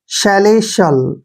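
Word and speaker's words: celestial: है वो श होगा जब भी टी आई ए इकट्ठा आता है तो टी का प्रोनाउंस हम श करते हैं ऐसे और ए एल का उच्चारण ल करेंगे शैले शल क्या पढ़ेंगे इसको शैले शल शैले शल क्या होता है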